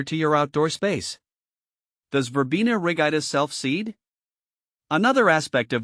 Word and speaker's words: Verbena rigida: pronunciation is Vera Ida with the emphasis on the second syllable of both words now that we've got